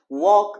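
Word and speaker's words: walk: ما هست وا د در ای لغت و یا در ای فعل هم دوستای نازنین حرف ال سایلنت و یا خاموش هست نوشته میشه اما تلفظ نمیشه واک به معنی قدم زدن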